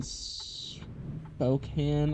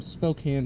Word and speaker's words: Spokane: We're we're right now in Spokane, I think is how you say it, and we need to go to Seattle, so it's gonna be a longer trip.